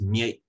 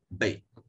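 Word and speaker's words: မြိတ်: part of the country, which is spelt Mie but pronounced Bay. So if you're speaking about this town in formal context, you might refer to it as Mie, but probably Bay, but its spelling is Mie.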